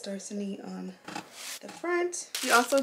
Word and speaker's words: Dorsanee: I'm not sure if it's pronounced Dorsanee or Dorsanee. I'm going to just say Dorsanee because it's two E's at the end.